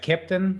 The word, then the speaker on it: keptn: story yeah uh you you got it right captain so the the pronunciation or the spelling is ke ptn it's the german phonetic of a captain and the idea with